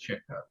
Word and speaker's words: Chico: that's an understandable thing but to be to be technically correct it's chicko yes yes and I